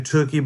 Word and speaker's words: Tookie: own in baseball and they named him tuie by the way he pronounced rookie the name they called